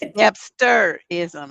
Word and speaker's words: Debsterism: It's Debsterism.